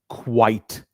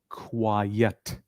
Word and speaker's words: quite: Repeat after me once again. Quite. The other one sh is quiet.